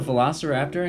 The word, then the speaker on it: rVelociraptor: Welcome to Velociraptor Incorporated. The R is silent and we're not a palindrome.